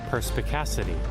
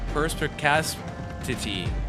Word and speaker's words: perspicacity: Perspicacity. Persp Oh my god, what a difficult word. Perspicacity. Perspacity.